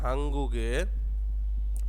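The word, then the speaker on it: 한국의: হাঙ্গুগে এটা উচ্চারণটা হবে হাঙ্গুগে।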